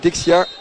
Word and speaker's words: Dejan: C'est comme ça qu'on prononce, nous, la phonétique française, on dirait Dejan, mais pour les Serbes, c'est Dexia.